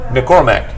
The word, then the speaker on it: McCormick: right Regina McClure okay so it's not Mick or Mac but it's McCormick I got it nailed